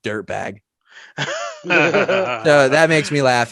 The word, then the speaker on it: DUERTBAEG: and then I typed in his last name, and it's spelled DUERTBAEG, like Duertabage. And the sound clip for it is just dirtbag.